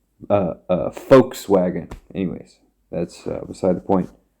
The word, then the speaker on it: Volkswagen: The way to pronounce it is like folk, like Vogue, Volkswagen.